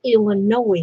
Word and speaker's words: Illinois: There's another one of those wasted letters. That's what just gets to me, is those silent letters, you know. Why does Illinois have an S on the end? Why'd they put it there? I don't know why. Because it's not used.